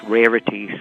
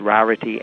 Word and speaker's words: Rarity: Would be pronounced Rarity sometimes in Ireland or here, but she pronounces it Rarity, and she is from Edinburgh in Scotland.